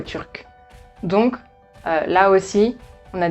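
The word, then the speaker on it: turque: Donc, si on ajoute un E, tout simplement, ça sera turs. Et ça ne ressemble plus du tout à turc.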